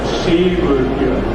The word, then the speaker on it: Sigurður: It's Sigurður. Sigurður, that's my name.